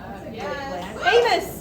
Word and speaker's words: Amos: Make sure, emphasize the M. When you have a stutter like me, it sounds a lot like anus.